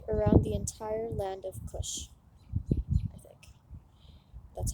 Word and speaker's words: Cush: there flowed around the entire land of Cush that's how you pronounce it the third branch called the Tigris